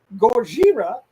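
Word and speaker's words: ゴジラ: than straight monster movie Fair gorira and that's the original pronunciation pronunciation of the movie gorira offers potent sobering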